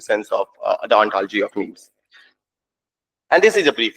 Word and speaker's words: meme: And he thought that gene rhymes with meme.